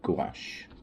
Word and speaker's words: gouache: like watercolor and some gouache that's how you pronounce it to see what gives